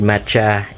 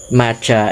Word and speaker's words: Ma Cha: part of the content, Macha is actually a word in Thailand which means I'm late. It is spelled as MA space then CHA. It's actually two words, and it's not the flavor called matcha, which you can find in milk teas, or the chocolate Kit